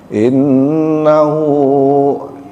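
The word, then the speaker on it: إنه: Sehingga mungkin terkadang ada orang yang bacanya pendek, tapi yang betul bacanya panjang.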